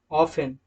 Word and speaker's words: often: में होते हैं तो वहां पर टी को साइलेंट रखा जाता है। Example listen, ऑफन, castle, etc।